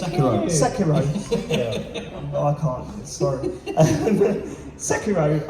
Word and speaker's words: Sekiro: And So how did you pronounce that? Sekiru, is it? Sekiro.